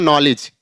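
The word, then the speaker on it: knowledge: ई डी जी ई तो क्या हो जाएगा नॉलेज मींस ज्ञान यहां पर भी के साइलेंट हो गया ऐसे के एन डल ई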